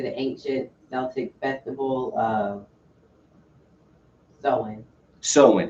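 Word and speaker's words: Samhain: date back to the ancient celtic festival of sewin it's pr it's it's spelled sam hayne but it says it's pronounced so in okay so solon it's an ancient celtic festival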